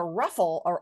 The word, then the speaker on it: ruffle: just see right here how do we spell that second unstressed syllable there oh f l e see the E's there again even though we don't hear it you got it